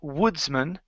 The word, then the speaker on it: Woodsman: word Woodsman okay um instead of pronouncing man like it like we would if it was singular we actually uh use more of a sort of like awah sound or un sound almost like a short e so instead of and